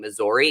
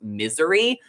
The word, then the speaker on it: Missouri: the Bachelor on TikTok and I was saying Missouri, and apparently it's pronounced misery, which makes zero sense to me.